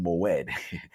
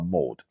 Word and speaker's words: moed: When I came across this one in the beginning, I was calling it moed until I was like, Hebrews is very interesting to pronounce, but mode, apparently.